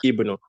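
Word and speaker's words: ابن: If you were at the beginning, if I'm starting with this, if I were starting with it, I would have pronounced the alif with a kasra. I would say Ibn Abbas, Ibn Mas'ud, Ibn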